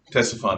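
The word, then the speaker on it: Ctesiphon: into the desert towards tessephon which is parthian capital tessaphon spelled with a c ctes because i don't know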